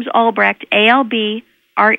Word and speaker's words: Albrecht: i n e and my last name is albrech ALB re e CHT and on that website